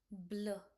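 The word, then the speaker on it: bleu: example of it's like eu okay so it becomes blur blur blur means Blue nila. Okay.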